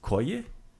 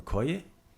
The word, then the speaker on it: koji: The question word for which is koji. Koje. Right. So it depends on which where you throw that syllable accent is koji or koye. Either one works.